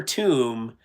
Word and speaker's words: tomb: Yeah, Kaiser Tomb tomb to OM B. You know that silent B kind of deal.